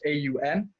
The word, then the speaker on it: Aum: when we do on which is pronounced AUM you see as om